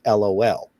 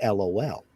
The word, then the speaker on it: LOL: And here, everywhere that I've ever heard anybody even try to pronounce that, that's what they say, LOL. You get over into the UK and they pronounce that lol. They'll actually say the word lol.